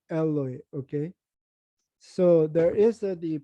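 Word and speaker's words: Eloi: the lle okay but if you go to the mark it's more like the aramaic pronunciation alloy alloy okay so there is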